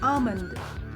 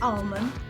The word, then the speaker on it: almond: British English, the L is usually silent. It's pronounced with an R sound, so it's almond.